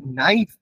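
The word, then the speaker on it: NiFe: এই জায়গার বা এই স্তরটাকে কি বলা হয় নাইফ বলা হয় নাই বা নাইফে যা তোমরা উচ্চারণ করবে নাই বা নাইফে উচ্চারণ করা হয়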